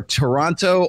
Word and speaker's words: Toronto: I've got Ryan Stone, who is in Ontario or Toronto or Wichita. Toronto. Yeah. We don't do syllables up here. You don't Toronto.